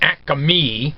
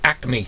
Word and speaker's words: acme: acme thread acme acme i have a habit of pronouncing that acame but it's actually acme thread all right and